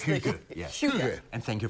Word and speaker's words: hygge: It is a Danish word spelled H-Y-G-G-E, and it's pronounced, we'll let our guest say it.